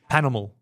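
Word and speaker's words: Pas Normal: It's not, you don't not pronounce the A, you don't pronounce the S. Correct. Yeah. Yeah. Yes. So it's not ass normal. It's not ass normal. Panormal.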